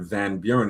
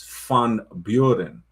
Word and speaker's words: Van Buren: So, somebody named Van Buren, it's not Van Buren, it's Fun Buren.